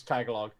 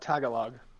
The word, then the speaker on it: Tagalog: Johnny, I'm gonna Tagalog.